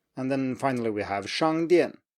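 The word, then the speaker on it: 商店: And then finally we have 商店, 商店, which means store.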